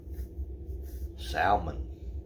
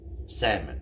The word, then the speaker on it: salmon: good stuff tuna fish salmon or salmon the hell is silent uh that comes from